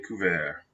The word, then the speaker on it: couvert: Notice the T is silent. Le ciel est couvert.